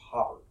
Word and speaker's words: Haber: It's spelled Haber like it would be Haber, but it's pronounced Haber.